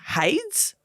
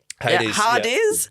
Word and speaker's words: Hades: Cameron said um now I think it's pronounced Hades hardes that one Hardies Hardies what did you Sayes like the Greek god of the underworld oh of course sorry